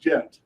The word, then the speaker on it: Ghent: came from ohio and it's pronounced gent with the j so how would you